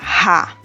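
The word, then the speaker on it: הַ: La forma básica del artículo determinado en hebreo es la palabra o la sílaba ha, la letra hei con la vocal a corta.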